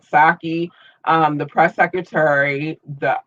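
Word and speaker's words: Psaki: administration but anyway um i'm just assuming that the p is silent saki um the press secretary the um 2016 effort to put her well it was the effort in 2016.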